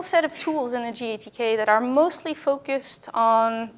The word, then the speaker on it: GATK: analysis toolkit and yes it is pronounced gatk not Gasquet or various other things